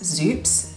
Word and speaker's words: Xupes: store that I decided to go with was zoops which is spelled x u p e s and I